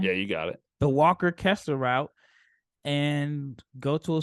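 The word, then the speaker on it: Walker Kessler: right that time yeah you got it the Walker Kester route and go to a school where he's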